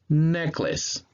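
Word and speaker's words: necklace: So when you read it together, it will sound like this. Neklǝs, neklǝs.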